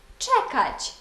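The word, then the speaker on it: czekać: характерні для польської мови буквосполучення з ми прочитаємо як ч наприклад слово чекач чекати буквосполучення S Z читаємо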